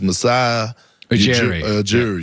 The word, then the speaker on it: Masai Ujiri: I always have problems pronouncing his name, but it's Masai Ujiri.